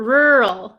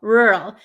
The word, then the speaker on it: rural: It sounds like wall. Ah, yes. Wall. Rur. Rural. Rural. Except there's a instead of a W, there's like an R, right?